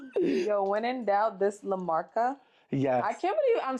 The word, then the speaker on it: La Marca: Yo, when in doubt, this La Marca.